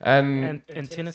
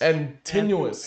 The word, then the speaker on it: Antinous: Antinous. Antinous.